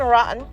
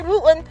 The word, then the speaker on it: Wooten: Dan Rotten. Oh, sorry, Wooten. Oh, sorry, guys. I keep pronouncing his name wrong. Sorry, guys. I did not mean Dan Rotten. I meant Dan Wooten.